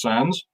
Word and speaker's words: Sandys: Sandys is pronounced Sands.